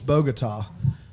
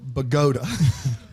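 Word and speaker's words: Bogotá: Alonzo uh Colombia the country the capital is bogot or as Panda would say it bot he said bot so you to be fair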